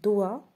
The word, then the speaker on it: doigt: Ensuite, la lettre G peut être muette dans certains mots. C'est-à-dire, elle ne se prononce pas. Et voilà les exemples. Doigt, éton, long, son, rond et point.